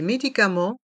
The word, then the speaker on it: médicaments: pharmacien la pharmacienne les médicaments les vitamines les médicaments les vitamin dans le mot médicament le E et le N se prononce en médicament et le T et le S sont muet les vitamines dans le